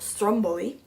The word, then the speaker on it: Stromboli: Jenny Bender um Stromboli which in Italian is pronounced Stromboli It's actually an island